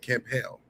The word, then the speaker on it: Campbell: And I think it's still spelled this way, but he pronounced it for some way. Tevin Campel. That B didn't That B wasn't there.